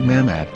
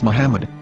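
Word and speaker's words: מחמד: form with no vowels it can be read as Muhammad which is the name of the Muslim Prophet or as mahmad with no a after the h according to Ben yehuda's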